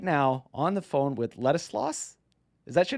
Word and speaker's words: Ladislas: of Switzerland right now on the phone with Ladislas.